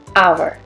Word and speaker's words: hour: a house in an hour so you can see here h sound is not pronounced so it's not hover